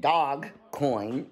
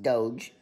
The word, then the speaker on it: Doge: But, like I said, with Dogecoin, it's actually, it sounds like dog coin, but it's pronounced Doge.